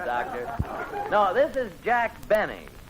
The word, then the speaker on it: Benny: No, this is Jack Benny. Rhymes with Penny, if he can arrange it.